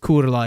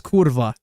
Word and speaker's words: kurwa: So it looks more like kurla, even though it's not pronounced kurla, it's kurwa.